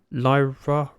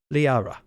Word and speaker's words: Liara: Lyra... Yeah. I'm going to stop. You know when you start butchering a name, but you still continue and really regret it? Yeah. Liara.